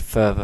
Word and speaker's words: PHRVA: there and it's inspired by the Billy ish further flip that's how you pronounce it um and we'll just have a